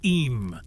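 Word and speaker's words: Eyam: Pronounced simply as Em, this serene hamlet is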